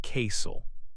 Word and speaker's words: castle: The letter T can be silent in words like listen and castle. You say listen and castle.